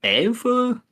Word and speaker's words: anfører: It's pronounced more like Anfu, but it's basically the same as the German Anführer, which means leader.